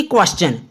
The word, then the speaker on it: question: Example में जैसे कि क्वेश्चन, QUESTION, क्वेश्चन। यहां पर टी के पहले एस आया और टी के बाद ION है, क्वेश्चन।